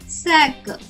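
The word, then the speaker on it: sack: పిల్లలు, సికే యొక్క శబ్దం మనం ఖ ఖ అని కాకుండా ఖ అని తీసుకోవాలి. కాబట్టి ఎస్ఏసికే యొక్క ఉచ్చారణ అవుతుంది శాక్. శాక్. శాఖ కాదు, శాక్.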